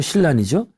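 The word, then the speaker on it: 親鸞: 근데 불교에서 굉장히 정통하고 어느 정도 실력가인간이 일본의 정토종의 아버지라고 할 수 있는 칠란. 일본 발음은 신란이죠.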